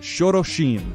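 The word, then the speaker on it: Xorroxin: instrument and speaking of that you see auscada pronunciation um I went to a waterfall in Nevada Spain that was called shoroshim spelled x-o-r-r-o-x-i-n so yaskata it is not connected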